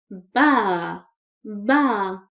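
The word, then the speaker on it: باب: Bab we don't stretch the sound of ba here because there is no vowel.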